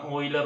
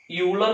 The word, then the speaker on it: Euler: കോച്ചി-ഓയിലർ നമ്മൾ പറയുന്നത് ഓയിലർ എന്നാണെങ്കിലും യൂളർ എന്നാണ് അതിന്റെ, നമ്മൾ സ്പെല്ലിംഗ് നോക്കി വായിക്കുമ്പോൾ യൂളർ എന്ന് നമുക്ക് തോന്നും. ചിലർ ഊള എന്നൊക്കെ പറയാറുണ്ട്. സോ കോച്ചി-ഓയിലർ എന്നാണ് വായിക്കേണ്ടത്.